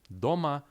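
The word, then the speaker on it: дома: to jest pewien wyjątek doma oznacza w domu zwróćcie uwagę że akcent pada właśnie na literę o dlatego to właśnie czytamy do ma tam co jest bardzo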